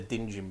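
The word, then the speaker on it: Djin: That gave me the Dinjin Blade. the Jin, yeah. Yeah, the Jin? Dinjin? I think it's The D is D is silent. So it's just Jin. It's just Jin, Jin. yeah.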